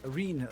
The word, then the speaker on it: Reen: Reen rhymes with clean, but I feel more like cleaning some clocks.